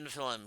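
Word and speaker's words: Nephilim: Mora, you meet Morra, the head of this small band of Nefilm. He is quite old. Note, I've pronounced Nefilm like three different ways during the stream.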